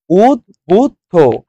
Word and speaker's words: উদ্বুদ্ধ: Right answer দেখেন, উদ্বুদ্ধ।